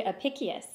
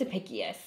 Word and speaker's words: Apicius: ancient Roman cookbook yeah called the Apicius if I am probably not pronouncing that right yeah I think it's a pickiest but the recipe that I